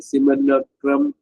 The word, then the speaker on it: simulacrum: light and truth, and take on them a simulacrum of divine forms in order to capture the soul of the seeker.